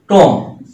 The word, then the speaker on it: tomb: তারপর টম, TOMB, এখানে বি এর উচ্চারণ কিন্তু নাই।